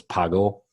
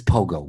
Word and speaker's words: Pogo: this I think it's Pago Pago ball instead of a PO right yeah it's said I think it's like Pogo ball Pogo ball and Pogo it's Pogo what am I saying pgo